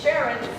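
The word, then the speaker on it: Charon: Yup, it's Sharon, spelled with a CH.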